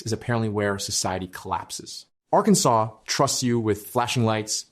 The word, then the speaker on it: Arkansas: Arkansas Code preserves an 1881 resolution declaring the state name should have 3 syllables, a silent final S, and what the text calls the Italian sound of the A. In other words, Arkansas, not Arkansas.